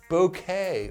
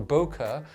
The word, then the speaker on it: bokeh: You know, we're talking about like just gorgeous bokeh or bokeh, depending on how you guys like to pronounce it. And I know you guys are going to try to correct me and say, oh no, it's only pronounced bokeh. And then other people say it's called bokeh. Yeah, whatever, dude, okay?